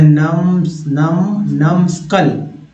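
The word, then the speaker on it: numskull: उसके बाद है नमस्कल, नमस्कल, नमस्कल। बी साइलेंट है यहाँ देखिएगा, यहाँ पे बी साइलेंट है।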